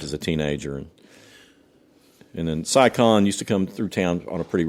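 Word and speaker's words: Si Kahn: all that stuff as a teenager, and then Cy Khan used to come through town on a pretty regular basis. How do you spell that?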